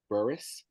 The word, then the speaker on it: Burris: same across the web it is burus burus is spelled bu r r i s so patience